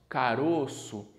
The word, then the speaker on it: caroço: aqui é caroço beija no singular nós pronunciamos como se fosse uma acento circunflexo caroço agora quando a gente passa essa palavra para o plural nós pronunciamos caroços com acento agudo certo caroço circunflexo singular caroços agudo no plural beleza mesmo exemplo de